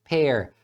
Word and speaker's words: pear: fazer frases usando palavras que têm a mesma pronúncia, como por exemplo a palavra pear e a palavra pair. Então você observa que as duas palavras têm a mesma pronúncia, pear.